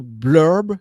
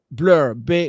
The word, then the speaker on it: Blurb: Et donc, soit sur Amazon, soit sur Blurb. C'est Blur, Blurb.